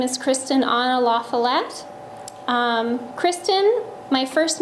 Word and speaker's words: La Follette: And La Follette, I say La Follette because I grew up in California, and that's how my mother pronounced my last name. But if you were to ask somebody in the Midwest, La Follette is how you would state the name.